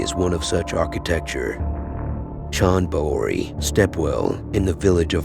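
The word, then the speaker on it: Chand Baori: the world's deepest stepwell Sean Bowery as the locals say was built by ghosts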